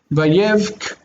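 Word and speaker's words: ויבך: Vayevk, this has a hard C on the end, a hard K.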